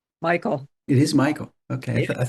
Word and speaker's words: Michael: By the way, how do you pronounce your name? Michael.